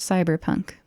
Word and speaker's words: CBR+PNK: system CBR plus pnk which probably is pronounced cyber Punk the players and game